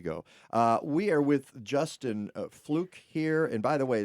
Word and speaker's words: Fluck: we are with Justin fluke here and by the way that's spelled FL uck but it's pronounced fluke from fluke Farms Chicago